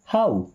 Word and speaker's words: how: HOW इसे हो नहीं पढ़ते, क्या पढ़ते हैं? हाउ।